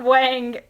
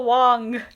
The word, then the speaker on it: Wang: another one ya Wang it's not Wang it's Yao Wong some people do uh